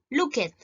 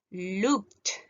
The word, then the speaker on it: looked: excepto la T, ¿cierto?, pronunciamos la terminación ED como T. Porque yo no voy a decir aquí, ¿cierto?, looked. Yo voy a decir looked.